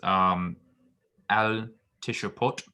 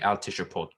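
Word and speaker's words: אַל תִּשְׁפְּטוּ: Okay, and I also think I mispronounced al tishupot. I think that the shiva there should be vocal, and do not judge there. I believe it should be al tishupot.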